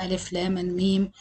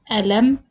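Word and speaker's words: الم: The hint to pronounce these surahs or these letters is to pronounce them as you are spelling the letters of the alphabet with saying the name of each letter separately. So I won't read this word as Alam, because normally we use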